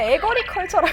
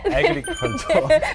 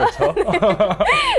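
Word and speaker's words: agriculture: 아니 아까 에거리컬처라 그래가지고 에그리컬처. 발음 다시 한번. 에그리컬처.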